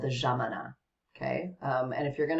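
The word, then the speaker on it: Yámana: with a y um yamana so jamanas is the pronunciation in Argentina because the Y is a j sound so the jamana um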